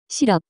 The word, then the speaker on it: 실업: The pronunciation of this word is closer to 시럽.